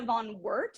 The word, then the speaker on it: Van Woert: Van Woert, am I saying that right? Mm-hmm. I definitely typed it into a pronunciation thing 10 minutes ago and was like, I think this is how you say it.